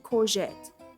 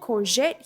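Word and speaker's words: courgette: Number 16, corette.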